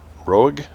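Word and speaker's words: Roeg: Don't Look Now by Nicholas Rogue I think is how you say his name r o EEG Rogue at number seven we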